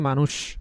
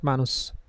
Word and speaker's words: মানুষ: মানুষ বলি তাই না তো মানুষটা কার মত এসএচ এর মত নাকি এস এর মত করে বলি এস এর মত করে বলি এজন্য বলি মানুষ নট মানুষ তাহলে যদি এসএইচ হয়